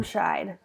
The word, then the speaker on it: Germscheid: Is it Germscheid? How do you say your Close. last name? Germscheid.